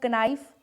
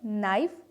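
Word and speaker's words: knife: तो इन्हें अब कनाइफ, नॉलेज नहीं पढ़ोगे, नाइफ, नॉलेज।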